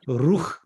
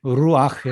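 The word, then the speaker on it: רוּחַ: 그래서 루흐 하지 않고 여러분 루흐 한번 해보세요. 굉장히 발음하기가 힘듭니다. 그죠? 루흐. 그러면 숨이 좀 찰 거예요. 그렇죠? 근데 루아흐 해보세요. 발음하기가 좀 부드러워졌습니까? 네, 아가 들어가면 부드러워집니다.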